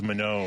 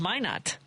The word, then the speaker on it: Minot: Up until this moment, I didn't know how to pronounce Minot. I've seen it. Minot? Yeah. I would have thought it was Minot or something. No, it might be, but everyone there says Minot when I was there.